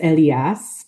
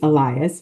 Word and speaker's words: Elias: And so in English it's Elias, but in Spanish it's Elias. And I'm learning Spanish, but it's funny that I'm the one who's like, it's not Elias, it's Elias. He is 3.5, and he